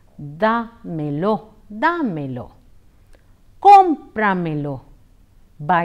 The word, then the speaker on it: dámelo: in the expression D'Mello the accent falls on a DA hence it is pronounced as de Melo de Melo comprar Milla